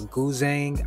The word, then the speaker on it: guzheng: That instrument is called a guzheng. I think that's how you pronounce it.